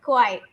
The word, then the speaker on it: quiet: Quiet. It is not quite. It is quiet.